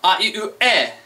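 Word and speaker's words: え: Next up we have e, which this one is pronounced E. It's written as an E, but it's pronounced just like my name, That's why this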